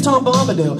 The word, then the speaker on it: Tom Bombadil: His name's Tom Bombadil.